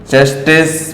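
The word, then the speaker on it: tsetse: इसमें T silent होता है। एक है सैंड फ्लाई, एक है मॉस्किटो, एक है रैबिट। तो इसका जो करेक्ट आंसर है वो चेस्टेज फ्लाई बोलते हैं।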